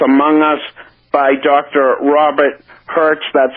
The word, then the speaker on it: Hercz: Robert Hertz. That's spelled Hercz.